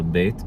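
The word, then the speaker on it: ב: So beit can sound like b or v.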